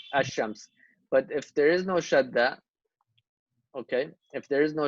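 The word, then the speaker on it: الشمس: Okay, so when you see a shadda on the letter that comes after the lam, you know that you don't pronounce the Oh lam. yeah. You say ar-Rahman, ash-shams.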